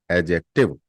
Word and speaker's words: adjective: और pronoun is called एडजेक्टिव, एडजेक्टिव। अंग्रेज बहुत बड़े पागल के बच्चे थे, अभी भी हैं वो, दिमाग नाम की चीज नहीं है उनमें। एडजेक्टिव में डी साइलेंट है, बट डी साइलेंट है